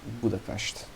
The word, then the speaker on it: Budapest: more of seget and in be the past it's not s it's ash so it's a budapest that would be the